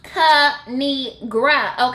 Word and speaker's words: Kinigra: It's pronounced Kinigra, okay?